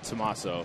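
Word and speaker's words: Tommaso: Yes, it's Tomaso. Tomaso. Is how it's pronounced.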